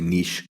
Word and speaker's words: niche: He showed me this, what they call the Eastern niche, or I think the British say niche.